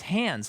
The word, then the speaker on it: Hans: pronouncing it yeah uh like maybe because he's British they say hands oh man but I've always I've always ever known for German Hans as an American yeah that's what I've always known I wonder if it's just a look up the German pronunciation it might be hands yeah I think it's Hans the score to this